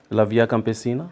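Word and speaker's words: La Via Campesina: Lavia Campina and that is in it's um a global uh movement of uh peasants.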